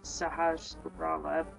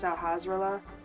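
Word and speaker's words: Sahasrahla: go to find sahasa nobody knows how to pronounce his name I believe it's sahasa but the old dude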